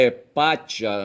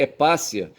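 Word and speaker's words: Hipátia: E eu falei que o nome dela era Hepátia, mas na verdade eu acho que deve ler Hepácia. Se escreve Hepátia, porquanto deve ser um nome latino, tá certo? Mas o T, sabe, o T é coligado com vogais, tá certo? Ele tem um som de S, tá certo?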